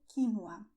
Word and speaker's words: quinoa: And you have the word quínoa or quinoa. You can pronounce it this way and it's correct, but it's also very common to say quinoa. Okay? So, quinoa, quinoa, or also quinoa.